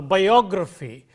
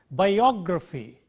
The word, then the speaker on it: biography: Let's take, for example, geography or biography, lexicography, and so on. the syllable immediately preceding gr is o. So, geography, biography, lexicography, calligraphy, and so on.